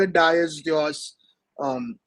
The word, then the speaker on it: Dyeus: For people watching who don't know yet, Harshit is the founder of Dice. Am I pronouncing it right? Yes. Yes. Yes. You can call it Dice.